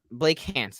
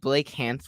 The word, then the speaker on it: Blake Hance: Blake Hance. They added Blake Hance, which actually rhymes with Trey Lance, but they added Blake Hance on the team and they waived Trey Sermon.